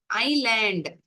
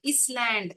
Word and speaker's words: island: ஐலேண்ட், ஐ லேண்ட், அதில் எஸ் என்ற எழுத்து சைலண்ட். இஸ்லேண்ட் அப்படின்னு படிக்க மாட்டோம். ஐலேண்ட் அப்படின்னு படிப்போம்.